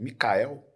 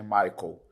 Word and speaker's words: Michael: cara pegou a identidade, Micael. Aí eu falei pra Maíra, né? Falei, tá vendo, amor, que eu sofro? Porque escreve Michael, como se pronuncia, como escreve em inglês, né? Michael.